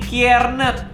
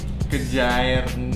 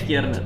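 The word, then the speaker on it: Kjaernett: Rendy Kiernet. Hai. Benar enggak? Benar. Tapi tulisannya Kejaer Net. Mujair. Kejair. Kejaer. Kejaer Net. Net. Oh, dibacanya Kiernet.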